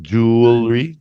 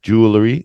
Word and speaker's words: jewelry: say jewelry jewelry jewelry I even hear some people say jewelry Larry like there's another letter in between the L and they are jewelry I hear that a lot too yeah let's just cut it down to two syllables and not three because